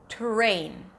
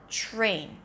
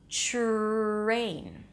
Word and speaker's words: train: So it doesn't sound like terrain. It sounds like train. Do you hear the difference? The difference is that instead of pronouncing a T sound, you pronounce a ch sound.